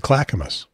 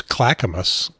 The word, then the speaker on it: Clackamas: out what I needed to know how to pronounce her town and they said Clackamas but I didn't try was this handy pronunciation